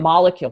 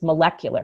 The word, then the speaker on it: molecular: But then all of a sudden for no reason whatsoever, we change the stress when we say molecular chemistry. That's it's not true. molecule chemistry, it's molecular chemistry.